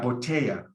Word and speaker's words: botella: For the double L, you can substitute the double L for like a Y, like when you say in English, yesterday, or yes, or yellow. So a lot of the people in the world who speak Spanish make it a Y sound. Botella, that's the one I teach, it's very universal.